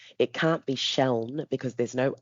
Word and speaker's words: Seun: saying, "It's actually pronounced Siobhan." And I give them little tips. It's like saying shell with an N on the end.